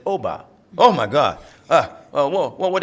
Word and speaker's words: Obba: your name I said Oba oh my God uh what they call you for short I said there is no short it's Oba two syllables OB like Mary Tommy Bobby Sammy you can do it